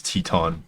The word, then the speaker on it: Teton: I like that it's Teton and not Tight.